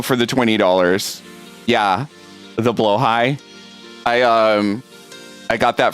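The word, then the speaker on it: Blåhaj: the the blow the blo high that just got thrown at me by the way it it's it's not blahaj it's blo high that's the actual correct pronunciation of it um for anybody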